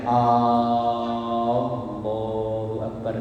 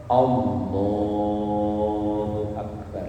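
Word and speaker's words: الله أكبر: Jadi jangan sampai membacanya Allahu Akbar, jangan. Kalau misalnya lagi sholat, kalau pengen dipanjangin, panjangi yang huruf lamnya, Allahu Akbar. Tapi jangan memanjangkan huruf alifnya atau hamzahnya.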